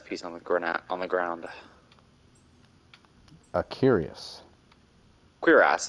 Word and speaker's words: cuirass: Cuirass is the actual proper pronunciation. Cuirass? Cuirass. It is, and most people are. Yeah. That makes sense. Cuirass. It's a French word.